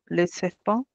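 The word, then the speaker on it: les serpents: escrito, mas na fala o S, ó, já não é mais falado, ele desapareceu no final, tá bem? No final, a não ser que a palavra seguinte comece com vogal, aí você fala ele com som de Z.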